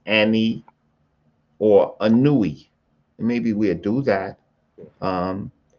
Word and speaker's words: Ani: Anui, the papyrus of Anui. That's what you're talking about, the papyrus of Anui. well, they pronounce it Ani. That AI.